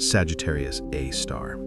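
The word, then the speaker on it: Sagittarius A*: A super massive black hole given the name Sagittarius A star, pronounced Sagittarius A star.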